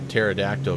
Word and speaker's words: pterodactyl: Why can't you hear a pterodactyl going to the bathroom? I know. Yeah. Look at that beauty. Slant alpha, man. Pappy Sherman Jr. Because the P is silent.